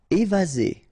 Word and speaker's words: évasé: Évasé, remember one S between two vowels, Z, évasé.